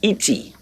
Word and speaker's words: et: In French, and is et. ET in French, it must be there.